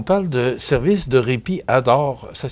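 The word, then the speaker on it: ADORE: Puis, vous parlez de Solidarité Cancer, mais si on parle de service de répit ADOR, ça s'écrit A-D-O-R-E.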